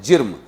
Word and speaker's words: جرم: جیم رے میم، جرم۔ ہمارا تو جسم ہے، لیکن چیزوں کا جرم ہے، اس کو جسم نہیں بولیں گے۔ ذی روح غیر ذی روح میں فرق ہے، جرم۔ تو کیا آسمان کا